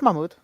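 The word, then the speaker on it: Mahmud: now but you you you said the name right it's Mamud okay good you're right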